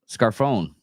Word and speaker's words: Scarfone: Documents used the two terms that exist as early as 1993 when Scarfone, and that's how it's pronounced, Scarfone, wrote about the Dixie Mafia and the Southern Mafia working together with the Italian Mafia in the South.